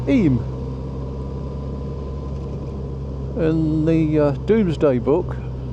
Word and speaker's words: Eyam: the village sign I it says I it's pronounced IM in the uh Doomsday Book it's actually written